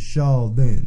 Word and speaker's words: Charldyn: then my name is Shon Shon it's like Sheldon but Shon Charon you gotta be